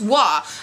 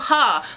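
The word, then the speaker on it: は: explain them so the first one is wah now in hiragana it is spelled ha but you don't say ha when you say like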